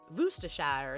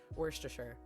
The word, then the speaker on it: Worcestershire: i saying it correctly i know there's hot debate about like woostershire and we're chester shire i always have just said worcestershire which is probably not correct but that's how i